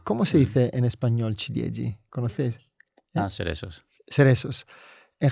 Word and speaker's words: ciliegi: Se dice chiliegi. Ch cil chiliegi. ¿Conocií? No. ¿Cómo se dice en español ciliegi.